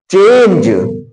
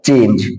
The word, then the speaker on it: change: अगला देखिए चेंज, तो CHANGE है, तो अंत में ई आया है, तो ई का उच्चारण नहीं करेंगे, तो हमारा हो जाएगा चेंज। देखो यहां पर चेंज हो गया।